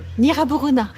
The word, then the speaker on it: Gnirabourouna: Et donc vous le prononcez ? Nra Borona.